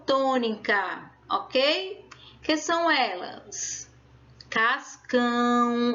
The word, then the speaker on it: Cascão: Cascão, ó. Cascão. Então, eu boto mais ênfase, eu coloco mais força para dizer cão.